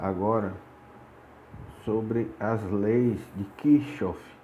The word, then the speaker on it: Kirchhoff: sobre as leis de christoff esse nome é meio complicado de se pronunciar mas é tipo assim que chove que chove desde de queixas